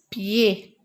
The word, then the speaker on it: pied: Au pied. Regardez. D et S, je ne le prononce pas. Pied.